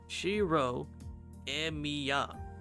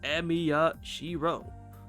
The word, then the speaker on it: Shirou Emiya: 違うぞ。今の発音だとエミヤシロじゃないか。エミヤが名字で、シローが名前なんだ。言いにくかったらシローってだけ覚えてくれ。 Shirou Emiya. Super easy. Or Emiya Shirou.